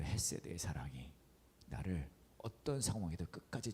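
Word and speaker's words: חסד: 이거 약간 어려운 발음이긴 한데 헤세드예요. 가래를 끓는 소리를 내지만 뱉어서는 안 돼요. 헤세드.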